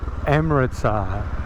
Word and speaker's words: Amritsar: We are on the outskirts of Amritsar.